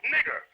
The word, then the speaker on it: Niger: The word Niger there was originally pronounced nigger, which means black.